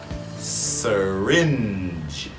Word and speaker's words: syringe: It's called syringe. Syringe. Okay. And it's the same as yes sir. Syringe. And don't forget that G sound.